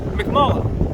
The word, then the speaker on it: McMullen: McMullen. McMullen? Yeah, Officer McMullen. Okay, like Mick, MC like Mick.